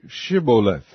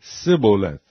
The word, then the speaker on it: Shibboleth: If he said, Nay, then said they unto him, Say Shibboleth. And he said, Sibboleth, for he could not frame to pronounce it right.